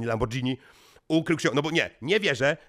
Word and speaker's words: Lamborghini: z tobą mamy Lambo mamy Lamborghini bo to tak się wymawia Lamborghini ukrył bo nie nie